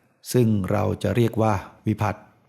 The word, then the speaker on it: วิภัตติ: เรา จะ เรียก ว่า วิภัตติ อ่าน ว่า วิภัตติ นะ ไม่ ใช่ วิภัตติ ซึ่ง วิภัตติ นั้น ก็ คือ